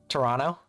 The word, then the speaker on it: Toronto: That's how you say it, right? Like without the the second T. Toronto.